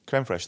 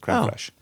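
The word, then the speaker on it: crème fraîche: say like that what how do you say this word fresh fi CR fresh crem fresh they go together crem fresh ah just like uh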